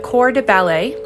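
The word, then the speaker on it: corps de ballet: are three main ranks the core de ballet that's three words the first word core is spelled c-o-r-p-s like the word body soloists and principal dancers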